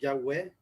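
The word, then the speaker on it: Yahweh: letras según los estudiosos la forma más ideal de pronunciarlo es ya ve en español y web en inglés sin si no recuerdo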